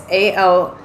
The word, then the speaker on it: Alcyone: And then we have Alcyone, I think is how you say it. It's Alcyone, and she is the sister who wards off storms.